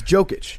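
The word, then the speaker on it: Jokić: I need to know how to accurately mispronounce his name. It's Jokic.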